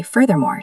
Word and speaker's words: furthermore: point, then you say furthermore to hit them with a second negative point. It makes the argument heavier. Pronunciation. Furthermore, the th is the voiced sound like in the or that.